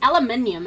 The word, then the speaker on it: aluminium: Then I think they spell it aluminum as well. That's why they say aluminum. It's aluminium and there is an I before the U.